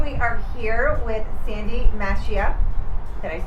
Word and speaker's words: Mascia: Okay, today we are here with Sandy Mascia. Did I pronounce it correct? I'm sorry. It's okay. It's Mascia.